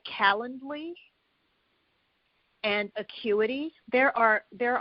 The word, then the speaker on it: Calendly: if we're speaking generically calendly and it felt like the word calendar except with instead of having the ER at the end of the word you would have ly and then acuity which